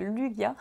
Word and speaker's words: Lugia: Lugia holographique, enfin Lugia, Lugia, il y en a qui disent Lugia. Mais quand vous regardez les films Pokémon, c'est bien Lugia. Prononciation ou.